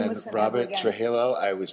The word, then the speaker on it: Trujillo: Trujillo. I always pronounce his last name wrong.